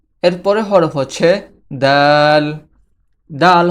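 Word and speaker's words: د: দাল হরফটি জিহবার আগা সামনের উপরের দুই দাঁতের গোড়ার সঙ্গে লাগিয়ে উচ্চারিত হয়। দাল দাল। জিহবার আগা সামনের দুই দাঁতের গোড়ার সঙ্গে লেগে দাল উচ্চারিত হয়।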